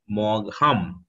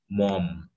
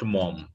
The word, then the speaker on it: Maugham: it will pronounce like Maugham, M-A-U-G-H, Maugham. But actually, the correct pronunciation would be Mom, M-O-M, like this. So you have to pronounce the full name like William Somerset Maugham.